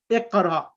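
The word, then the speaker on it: اقرأ: the alif which comes, if it comes in the beginning of the sentence, it's pronounced iqra. But here, this alif now is coming in the middle of the sentence. That's why this alif of the imperative becomes silent.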